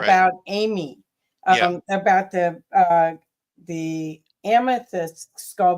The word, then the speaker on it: Ami: and and so what's fascinating is you also had a crystal skull that was called Amy, that AMI is. Am I pronouncing it right?